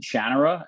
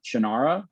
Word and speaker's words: Shannara: And it made I found out maybe 7 years ago that Terry pronounces it Shannara and not Shannara.